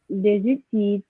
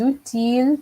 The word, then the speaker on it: outil: Des outils technologiques. Rihanna? Des outils technologiques. Okay, so this one, the little trap was the word outil. Yes, there's an L, but that L is silent.